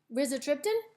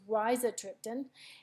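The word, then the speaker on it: rizatriptan: Max Holt it's with Riza triptan so as you can see it gives you a pronunciation and I've been pronouncing it wrong it's Raisa triptan and then it gives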